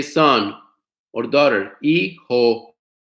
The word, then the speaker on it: hijo: Hijo, hija, H silent.